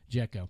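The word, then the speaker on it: Džeko: Is that how you pronounce Oh, it? Dzeko? Dzeko.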